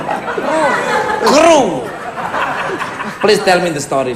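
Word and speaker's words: Crüe: CRUE bacanya apa? Crew.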